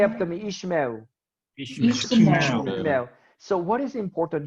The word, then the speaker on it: Ishmael: Say after me, Ishmael. Ishmael. So what is important here? When you have two shua in a row, the first one is silent, the second one is vocal.